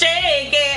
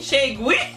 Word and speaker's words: Cheguei: And it's Cheguei. I was saying Cheguei.